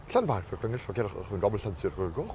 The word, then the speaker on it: Llanfairpwllgwyngyll: And they had the sign, I'm serious, had the sign out and they were like, Llan, okay, everyone's got that. Vair, okay, nice, good job guys.